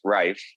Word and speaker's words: Reif: for you to know my last name is pronounced rife right oh damn it i'm